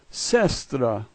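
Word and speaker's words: сестра: The first letter S, second letter yeah, third letter S, fourth letter T. What looks like a P is an R sound, and A is A. So this is sestra, sestra.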